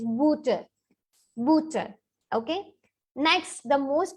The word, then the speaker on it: Butter: Butter. In English we say butter, same word, same spelling, but the pronunciation is booter.